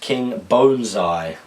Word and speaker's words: King Bonezai: My name is pronounced King Bonezai. Ah, okay. The bone part is said like bone.